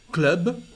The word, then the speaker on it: club: Club, we also pronounce the letter B.